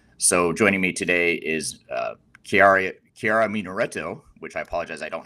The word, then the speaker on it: Chiara Munaretto: Now, how should I have said your name? Maybe we could start there. Maybe because I like hearing it in your accent much better than the way I said. Chiara Munaretto. Yes. So what she said, that's her name.